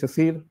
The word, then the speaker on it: CSIRT: Nosotros ya la pronunciamos y decimos que es CECIR. La he escuchado de otras formas que CSIRT, los medios ya es como...